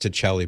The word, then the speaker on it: Tacelli: And I know it should be pronounced Tacelli, but he says he gave up trying to get people to pronounce it the right way.